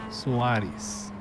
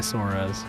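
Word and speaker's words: Soares: um and Portuguese Suareis. So, just keeping it nice and simple, but I just go by Sorz cuz I know people have a hard time pronouncing pronouncing my name in uh English uh pronunciation, so why make it harder?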